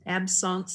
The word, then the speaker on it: absence: of those actions okay it's the french pronunciation absence seizures myoclonic seizures tonic clonic